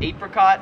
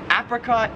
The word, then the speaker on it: apricot: that is apricot or apricot so apricot is like the american way but i've always pronounced it apricot which is how like everyone in australia pronounces it number 17 is filet